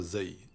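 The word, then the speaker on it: ز: La lettre Zay est l'une des 6 lettres qui ne s'attachent pas à la lettre suivante.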